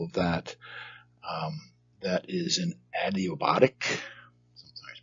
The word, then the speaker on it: adiabatic: That is an adiabatic, sometimes pronounced adiabatic, but adiabatic.